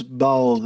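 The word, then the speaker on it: Baul: teaching sounds like uh is it ball people I think yeah it's ball it's spelled b a u l and um I'm sure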